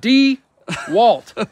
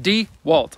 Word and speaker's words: DeWalt: job site table saw is it do you want or dewalt though d walt d e c capital w i don't know that's how you say it d walt either way and this